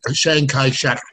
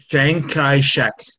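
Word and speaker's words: Chiang Kai-shek: longest time Taiwan go ahead Chris we we pronounce it Shang Kai Shack in Western countries say that again Shang Kai Shack okay thank you for saying that the proper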